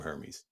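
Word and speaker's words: Hermès: the air tab from hermes it ain't that serious man that's high falutin brother it's not that serious um outside and and and apparently the uh that the h is silent see i roll the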